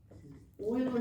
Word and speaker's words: Euler: Euler diagram this is oil diagram actually starts with an e but we pronounce it so Euler diagram Euler diagrams um